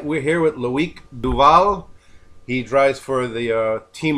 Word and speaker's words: Loic Duval: Yeah, All right, we're here with Loic Duval. He drives for the Team Oreca Matmut. Am I pronouncing that right?